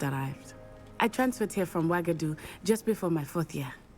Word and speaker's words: Uagadou: Do you guys see how that's spelled? Uagadou, and it's pronounced Wagadu.